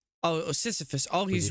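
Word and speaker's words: Sisyphus: Didn't really Why you saying Seephus?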